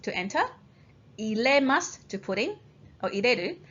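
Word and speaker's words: 入: Okay, when you combine it with another kanji, it's pronounced as nu.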